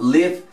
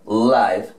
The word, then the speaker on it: live: a elección colombia ok entonces vamos a pronunciar live cuando es el verbo vivir por aquí no vamos a pronunciar la misma palabra la va a pronunciar live cuando la estamos utilizando como adjetivo ok el adjetivo vivo